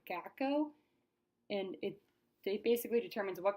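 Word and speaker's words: gaokao: I believe it's pronounced the GACO, and it basically determines what college you get into and if you get into college, and it's highly competitive.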